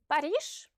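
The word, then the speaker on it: Париж: The letter j, which is a voiced consonant, is pronounced sh if it's the last letter of a word. Like in the words massage, Paris, and garage, for example.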